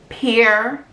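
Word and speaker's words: Pyer: number two is pronounce peer moss p-i-e-r-r-e pronounced like that but spelled p-y-e-r so the name is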